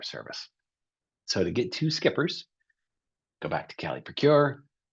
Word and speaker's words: SCPRS: Skippers state contract procurement registration system SCPs is skippers is how we pronounce that acronym.